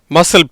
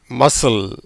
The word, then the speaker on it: muscle: மசில் பாவா, மசில் அப்படின்னா தெரியும், தசை, ரைட்டா? பைசப்ஸ், ட்ரைசப்ஸ்லாம் உங்கள் கேள்விப்பட்டிருப்பீங்க. மசில், இதை மசில்னு உச்சரிக்கணும். ஏன்னா அந்த சிக்கு உச்சரிப்பு கிடையாது.